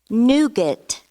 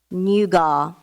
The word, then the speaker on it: nougat: Scott was cynical about show business any alternate pronunciations no cynical see why and I see a cynical correct nougat nougat language of origin please Latin to provincial